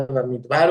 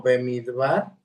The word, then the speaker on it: Bamidbar: ya de esta parashá Bamidbar o Bemidbar. Está correcto pronunciarlo de las dos formas.